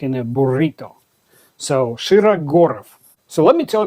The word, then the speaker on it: Shirogorov: It's not Shiro and it's not Shiraurov. It's Shira Gorov. The sha sounds like in the word shot. Gorov is not gurov. It's gor.